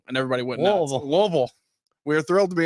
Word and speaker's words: Louisville: and say it right Louisville and everybody went well Louisville we are thrilled to be in Louisville yeah they dropped the whole midsection of the word I was uh a